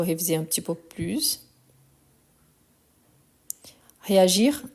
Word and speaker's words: réagir: Réagir, on prononce le R quand il est à l'infinitif. À partir du moment qu'on conjugue, on ne prononce plus.